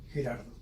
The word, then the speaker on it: Gerardo: ¿Cómo se pronuncia exactamente tu primer nombre? Gerardo.